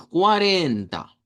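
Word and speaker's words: quarenta: Vamos a hacerlo como 40, muy parecido al español, 40. Pero lo que sí es que la sílaba tónica es esta arenaba tónica. Entonces debemos decir 40. 40.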